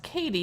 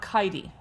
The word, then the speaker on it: Katie: So MSA, Katie's name is pronounced Katie, not Kitey.